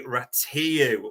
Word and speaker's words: Rațiu: Ratatouille either, but his official name is Andrei Rațiu when you go on to Spanish pronunciation site.